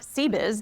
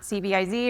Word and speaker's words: CBIZ: It is pronounced CBiz, not CBIS or CBiz.